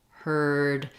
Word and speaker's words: heard: not a diphthong so it's the same sound in early heard and you can use other words with the ER sound for example I heard a bird so here ER is spelled with e a r very confusing what you